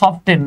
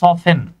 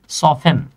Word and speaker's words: soften: SOFTEN, মনে হবে সফটেন না, কিন্তু এটার উচ্চারণ হচ্ছে সফেন। উচ্চারণ কি? সফেন।